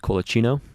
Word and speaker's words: Colacino: pronunciation of it uh if you want to do it by the Italian way it's kinoo Daniel Kino there you